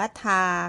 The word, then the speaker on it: 他: ไม่ เหมือน กัน เลย แต่ ว่า การ ออก เสียง ออก เสียง แบบ เดียว กัน เลย ค่ะ ก็ คือ คำ ว่า ทา ค่ะ ออก เสียง ว่า ทา นะ คะ ถ้า เรา ดู